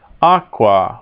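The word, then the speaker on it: aquā: in Latin um Aqua Aqua with a long a at the the end for the ablative Aqua stories as the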